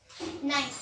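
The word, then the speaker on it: knife: यहाँ पे सबसे पहले आता है नाइफ। अब यहाँ पे नाइफ में आप सभी जानते हैं कि नाइफ में के जो है वो साइलेंट रहते हैं।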